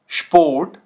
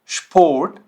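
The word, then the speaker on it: Sport: अब ये कैसे साउंड करेगा, देखिए स्पोर्ट, स्पोर्ट, स्टूडियो, स्टूडियो, स्पास, स्पास। तो देखिए ये श साउंड कर रहा है, ठीक है। चाहे इसके आगे पे हो या टे हो, ये साउंड करेगा श, ठीक है।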